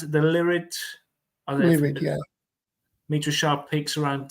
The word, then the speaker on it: Lyrid: Is that how you pronounce it? The Lyrid? Lyrid, yeah.